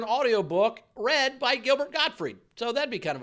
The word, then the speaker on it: Gottfried: pronounce god free and it's not godfrey it's got huh it's gottfried gilbert got free told